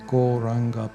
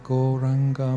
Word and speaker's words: Gauranga: So without further ado, let's add the wonderful Goranga mantra to our practice, turning this into a proper meditation technique. Goranga has 4 syllables. Go, ra, anga.